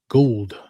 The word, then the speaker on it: Gould: Is it gold or Gould? Gould. Gould. I would feel like that's Gould. Like Elliot Gould.